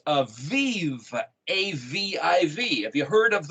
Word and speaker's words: Aviv: Aleph Bet Yod Bet is a Bib, and the Bet is pronounced as a V in vernacular. So it's Aviv, A-V-I-V.